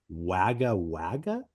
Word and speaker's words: Wagga Wagga: Obviously the band started in, I apologize if I'm pronouncing this wrong. Wagga Wagga?